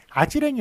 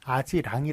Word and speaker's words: 아지랑이: 표준어로 삽니다 싸질 아니 아지랭이 아지랭이 라고 보통 틀리게 많이 발음을 합니다 그렇지만 이거는 역행 동아 예외 인정 하지 않았습니다 그래서 아지랑이 라고 그렇게 써 주시는 게 맞아요 그래서 이건 오히려 니크 예가